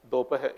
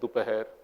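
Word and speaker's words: दोपहर: Dopaher, but within Hindi, different regions will say dopaher, dupaher, etc.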